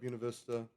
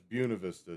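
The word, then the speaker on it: Buena Vista: That's the farm at Bunav Vista. That's Buunav Vista, too, by the way. in so I said it wrong even in trying to speak Spanish just like Los Angeles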